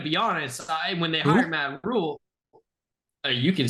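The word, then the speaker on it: Matt Rhule: When they hired Matt Rule, you can say it.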